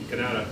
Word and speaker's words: Kanata: Kanata, yeah.